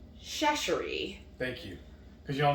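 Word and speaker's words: Chachere: And how do you pronounce his last name? Shashery.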